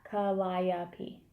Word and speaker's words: Calliope: kind of tend to call her Callie, because Calliope it's a lot for the mouth. You know, and if people don't... 4 syllables. Yeah, Calliope.